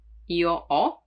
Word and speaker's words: ho: Now, the H is always mute in Italian, so you don't pronounce it, like in hotel, hotel, or as you know, io ho, the verb to have, and when it follows